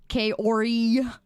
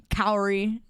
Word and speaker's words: Kaori: that last one yeah there's like three different ways to say my name and I just say it in the most English way possible Kori or you say Cy